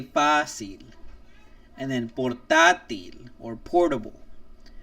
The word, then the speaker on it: fácil: Again, no vowel, no N, nor S, and fácil has two syllables in it. And I know we don't say fácil, so we say fácil.